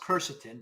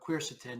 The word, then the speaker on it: quercetin: somebody turned me onto I thought it was pronounced curcitin but quercetin yeah and it's amazing I